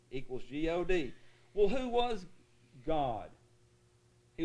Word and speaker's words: Gad: mad or lad okay in hebrew it rhymes with rod sod and nod the hebrews would pronounce this word spelled with english letters g-a-d the exact same way that we pronounce the word god g-a-d equals g-o-d well who